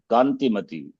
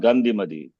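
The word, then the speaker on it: Kantimati: Kanti Mati. Not Gandhi Mati. I also say something Gandhi Mati because of my mother's influence. She always says Gandhi Mati, Gandhi Mati. So it comes even though I know Sanskritam very well, this is not Gandhi Mati, but because of input. You got to be very careful. Kanti Mati.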